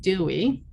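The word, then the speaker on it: DOWE: of work experience and i shorten it as an acronym d-o-w-e and pronounce it dewey and you'll have to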